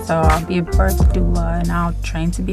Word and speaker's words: doula: You said medulla. That's how you say it? Or was it a doula? A doula.